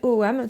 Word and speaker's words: Ogham: ce prononce quasiment pas on retrouve cette idée dans eight en anglais le chiffre 8 on dit pas ect on dit bien eight donc pour les douanes